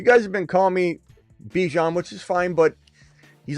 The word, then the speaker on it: Bijan: Travis Hunter, Garrett Wilson, Brock Bowers, Bijan Robinson. There, I slipped up there. Bijan Robinson. Bijan. That's how you say his name.